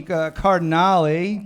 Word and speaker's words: Cardinale: a guest comedian Cardinale all right they say it right because you did it really well I was nervous I was like is it car or care you know nobody cares